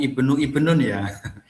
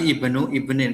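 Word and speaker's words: ابن ابن: cucu (ibnu ibnin), jangan katakan ibnu ibnun, tetapi ibnu ibnin. Mengapa? Karena ini adalah konstruksi idafah ( genitif); Mudaf ilayh harus dibaca dengan kasrah (jer).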